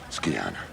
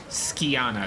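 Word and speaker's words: Scianna: it's about the girl skana skana is how you say it you must be very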